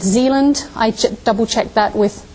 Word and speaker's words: Zealand: the main island here um and it's called Zealand I double checked that with colon on my pronunciation last night and then fune and um